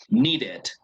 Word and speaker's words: needed: they when they in any verb that ends in a tea or a nerdy you need to make the e sound otherwise you don't so yes for this